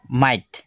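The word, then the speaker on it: might: word লিখি আছো যে তুমি ধইলাবা যে এই মাইট যেনে ধইলাবা মাইট যদি মাইট এনে কয় ধরনের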